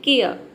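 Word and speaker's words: care: देखिए यहाँ पे ये इसको हम पढ़ते हैं केयर, केयर पूरा र नहीं बोलेंगे, केयर इस तरह से नहीं बोलेंगे, केयर, केयर यानी कि परवाह करना।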